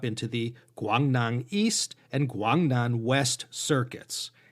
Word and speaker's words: Guangdong: the guangnang east and guangdong west circuits east is pronounced dong and west is she that's where we get guangdong and guangxi from this appalachian given